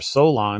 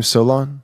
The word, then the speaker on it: Solon: you can account for it through his ancestor Solon who came down to Egypt right and that's